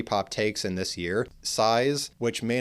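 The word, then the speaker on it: PSY·S: super close close next size that's how we pronounce it but it's sigh like psychology and then S size they're Japanese band the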